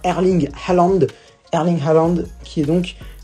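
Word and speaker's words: Erling Haaland: l'inarrêtable erling allende oui j'ai arrêté de dire airlink roulante je me suis rendu compte que ce n'était pas la bonne prononciation donc on va dire erling allende erding challandes qui est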